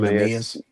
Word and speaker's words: Neemias: yeah, His first name, Neemias.